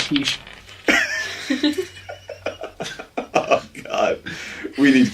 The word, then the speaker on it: quiche: Yeah, I always used to pronounce it Quickie Lorraine. I found out recently it was quiche.